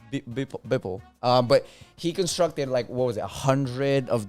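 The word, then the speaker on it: Beeple: Bipple.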